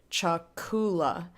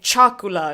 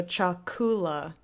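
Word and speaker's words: chakula: emphasis gets weird so Chuck Oola pronunciate their emphasis goes on the second-to-last syllable me me the word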